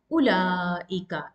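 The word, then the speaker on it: أولئك: That means you need to eliminate waw, the letter waw. Ulaika, as if there is no waw in between lam and hamza. So it's pronounced as ulaika. As you can see, there is no prolonging of ulaika. It's ulaika. You need to eliminate the sound of waw.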